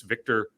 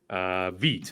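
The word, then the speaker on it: Vít: They did release Victor Krejci, the former Atlanta Hawk. Veet, actually, is the pronunciation.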